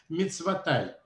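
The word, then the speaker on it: מצותי: Так вот, в тексте Торы, в главе Ваетханан написано «мицватав», «хранящих мицвот его», но мудрецы считают, что это слово надо произносить «мицватай», «хранящих мицвот мои», что здесь Моше Рабейну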